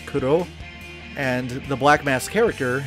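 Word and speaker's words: クロ: the Black Mask, because in Japanese, the codename Crow, like the way it's actually pronounced, is Kuro, and the Black Mask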